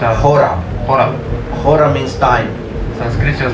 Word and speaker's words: hora: scientists like you here in Spanish people say hora time or the conclusion of Christmas removal aura